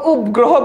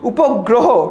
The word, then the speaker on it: উপগ্রহ: আমরা কখনো উপগ্রহ বলি না, কি বলি? উপগ্রহ, ঠিক আছে?